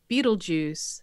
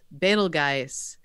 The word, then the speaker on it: Betelgeuse: was a teenager at the time over the pronunciation of Betelgeuse fatal guys however you want to pronounce it the dictionary says both are true and I wanted to say Beetlejuice expletive expletive three times I was yeah and